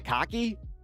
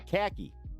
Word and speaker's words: khaki: Is it cocky? No, it's khaki. Like khaki pants.